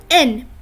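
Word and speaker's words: Н: taking this example see it is written as an English H but it is pronounced as n let's move on to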